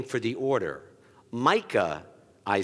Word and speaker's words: Micah: When people called me Mike or Michael, the way that I helped them pronounce it correctly was saying Micah, as in Formica.